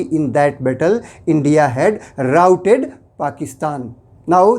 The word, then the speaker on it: rout: और देखिए इसका प्रोनाउंसिएशन जो है बिल्कुल बदल जाता है, यह बन जाता है राउट।